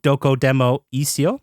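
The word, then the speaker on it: Dokodemo Issho: Japan Game Awards gave Doko Demo Isio for PlayStation. Okay. Good pronunciation.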